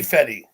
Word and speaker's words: fetty: more water guy jelly fetty i get it now i'm pronouncing it better this time aren't i it's not feta it's fetty uh that's what i'm smoking